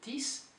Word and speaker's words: dix: Neuf, this is like six, so the X is pronounced like an S, so it's not dix, but dix.